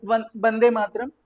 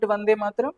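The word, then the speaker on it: বন্দে মাতরম্: So Bande Matram, you know that in Bengal I is pronounced as ba, the pronunciation is different. So we call it Vande Matram, they call it as Bande Matram.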